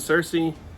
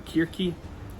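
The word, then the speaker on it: Circe: icarus and deadliest odysseus and cersei for kirki if we want to do real great pronunciations then atalanta prometheus and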